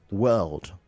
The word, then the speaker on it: world: it sound like it's it sounded like w a r d instead of world right let we need to hear the l come out the world right uh she has